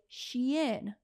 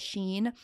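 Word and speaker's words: Shein: people my age demographic Shen that's how I pronounce it some call it Sheen all right y'all know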